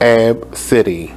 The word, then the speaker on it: Abcde: The girl's name is pronounced Ab City.